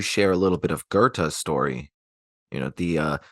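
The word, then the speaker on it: Goethe: is Gerta like that that's how the Germans say it so I I should probably roll with that so it's Gerta but you know I've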